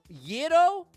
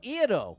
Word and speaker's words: gyro: It's gyro, with a softer sound at the start. Think of it like the beginning of the word year. So the Y sound is definitely part of it.